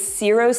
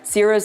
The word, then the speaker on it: Ciro's: It's CIRO'S Speakeasy on Bayshore Boulevard. CIRO'S is spelled C-I-R-O.